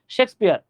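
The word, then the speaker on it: Shakespeare: হ্যাঁ, এই যে এই ভাইয়ের নাম হচ্ছে শেক্স, তালব্য শ বাবা, হ্যাঁ শেক্সপিয়ার।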